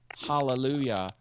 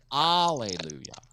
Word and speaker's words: hallelujah: sherlock would have to properly pronounce the word hallelujah throughout the song because you watch her do it sometimes she says hallelujah without the h and i can't have